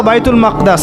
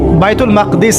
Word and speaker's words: বাইতুল মাকদিস: এবার এই বোরাক চলে গেল বাইতুল মাকদাস। এটা কোথায়? বাইতুল মাকদিস। সরি বাইতুল মাকদাস না বাইতুল মাকদিস। বিভিন্ন মানুষ বিভিন্ন উচ্চারণ করে।